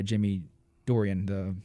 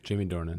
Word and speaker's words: Jamie Dornan: and that's the actual guy he's played by Jimmy Dorian Jordan Jordan how do you say it Jamie Dornan born in there it is and you said